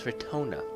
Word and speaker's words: Ratona: her name wrong actually it's not retina it's ratona i'll even pronounce her